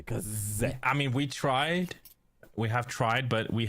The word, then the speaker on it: Case: but okay uh yeah it's that's why it's pronounced CA okay so from now I'm going to say Kaz I mean we tried we have tried but we have always casted them as case for a while case well that's English for